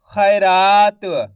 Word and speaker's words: खैरात: तो ख का उच्चारण कैसे करेंगे? ख में आई की मात्रा ख की मात्रा रा त मिलके बन जाएगा खैरात। आया समझ में? इसी तरीके से पढ़ना आपको खैरात। ऐसे नहीं पढ़ना। खैरात खय खय करके उच्चारण निकालेंगे।